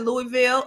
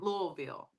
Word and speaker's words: Louisville: how I heard it Louisville okay right okay okay well but why don't it it technically it says Louisville right right right I mean you know right louville maybe the S is silent or maybe close to